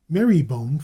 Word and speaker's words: Marylebone: For example, Magdalen for Magdalen College, Sister for Cirencester, Marybone for Marylebone. Their geographical nomenclature shows many corruptions due to faulty pronunciation and the law of hops and jobson.